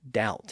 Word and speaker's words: doubt: hasn't really changed, but we do have a few silent B's in words like doubt and debt.